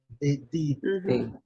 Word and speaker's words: did: Did. É como se você fosse nordestino. Você já mora aí no norte de Minas, né? Então é did, né?